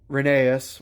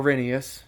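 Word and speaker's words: Rheneas: or handle and uh Renaissance or rhinius depending on which pronunciation you prefer uh Duncan uh that's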